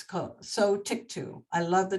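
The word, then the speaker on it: Sotyktu: it's s-o-t-y-k-t-u it's co so tick to I love the name it means tick to but it's spelled t u at the end and it starts with so this was just approved like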